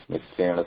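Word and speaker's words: मित्रेण: Aham mitrena saha milami. So how do we pronounce mitrena? Like this, right? With a cerebral na.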